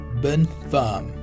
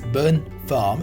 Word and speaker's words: bonne femme: The pronunciation of this is bonne femme, right? It's bonne femme.